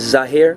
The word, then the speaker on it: Zahir: Okay, how do you spell it for us? My name is Zahir, Z-A-H-I-R.